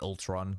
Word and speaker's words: Ultron: I don't know, you guys take the piss of me saying Ultron like that.